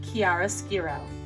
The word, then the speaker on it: chiaroscuro: correctly you will impress anybody this word is pronounced chiaroscuro let's try that together i'll say it and